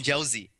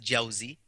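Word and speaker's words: Jawzi: touch on you mean you quoted even josie first of all it's pronounced jauzy uh i mean like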